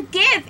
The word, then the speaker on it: GIF: gif gif it's just it's a gif it's with a g it's a game oh do you say